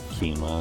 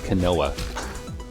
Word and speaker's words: quinoa: got the pattaya quinoa and chicken nice i don't really eat quinoa also like until i actually heard it pronounced i was like what the hell is kanoa oh god i still